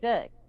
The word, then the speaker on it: Borg: yeah, And we think of it like a Bjorn Borg, sorry, yeah, the tennis Borg, yeah, player. yeah, They sort of say it like Björn Berg, yeah, and so you think it's Björn and Berg.